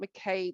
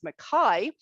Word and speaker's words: McKay: I've just learned it's not McKay, but I've been saying it's McKay. Who is from New Zealand, and the Mackay is a Scottish surname, so hence the pronunciation.